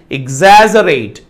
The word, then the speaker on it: exaggerate: The stress should be on the second syllable, that is exaggerate.